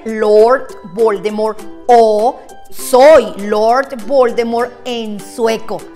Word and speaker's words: Voldemort: esta saga jk rowling ella anunció que todos estábamos pronunciando mal el nombre de lord voldemort porque la tf final no se debe pronunciar así que lo correcto debería ser según ella que es la autora lord voldemort número